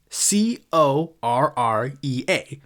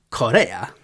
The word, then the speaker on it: Correa: It's Rafael, it's spelled C-O-R-R-E-A, Correa.